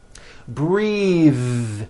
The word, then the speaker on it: breathe: like in bathing suit breathe same thing breath is a noun take a breath unvoiced but when you change it into a verb the vowel changes and it becomes breathe I am breathing with